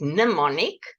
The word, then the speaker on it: mnemonic: to remember information a mnemonic you spell it m n but you pronounce it mnemonic and mnemonic can be